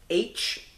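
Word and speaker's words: Aech: We get H, and it's kind of funny how H's name is spelled on there. It's A-E-C-H, like phonetically spelling the letter H, which is kind of funny.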